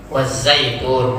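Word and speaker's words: والزيتون: Di sini ada pengucapan zal dengan zai ya, wazzai. Wazzaitun.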